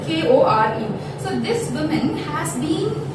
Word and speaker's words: Kore: It's pronounced as Kore.